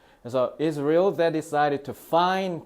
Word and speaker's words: Israel: 어린이 집의 스토리를 알려주는데 Israel 너네 이스라엘이라고 하잖아. 자, 이스라엘이라고 안 하고요. 특히 미국 발음으로 is real이라고 발음합니다. 그래서 is real that decided to find 자, find을 동사로 썼네.